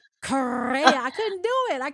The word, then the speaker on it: Correia: But I thought I was supposed to roll my R's. I was ready to say Correia. I couldn't do it. I could never do it, you know? Korea.